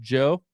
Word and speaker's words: DJO: If you look at number 5 on here, that Decide by DJO, that's pronounced Joe, which is pretty cool, I think, by the way.